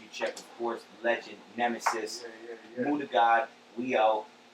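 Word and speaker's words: Knemesis: The Nemesis. The Nemesis with a K-N-E-M? silent K. Okay. Yeah, there's a silent K on the Nemesis.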